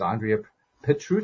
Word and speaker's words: Andrea Petrut: even add to that more her name is Andrea Petr I forgot to ask you the pronunciation of your name did I get that